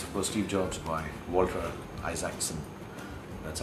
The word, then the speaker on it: Isaacson: This is for Steve Jobs by Walter Isaacson. That's how it's pronounced.